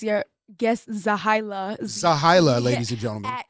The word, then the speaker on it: Zehailah: It's Zehailah, Zehailah. That's how you pronounce the name?